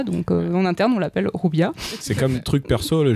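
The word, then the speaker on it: Juvia: moi j'ai toujours lu Jubia ou Jubia, donc c'est Rubia. Moi Alors ça c'est une vraie réponse comme chez Zeb, je le prononce à l'espagnol puisque le personnage c'était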